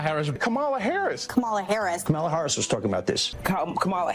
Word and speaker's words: Kamala Harris: Harris was a very good prosecutor camela Harris camela Harris camea Harris camela Harris camela Harris camela Harris